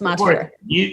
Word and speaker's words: Montefiore: Now, the last thing that I want to talk through is behavioral health, because at Montefiore, is that how you say it? Yes, Montefiore.